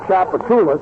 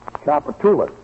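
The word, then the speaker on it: Tchoupitoulas: Gracie, Chapatoulas is a very famous thoroughfare.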